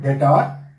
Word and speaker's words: debtor: I will say cash account debtor 50,000. That debtor, okay, that is silent.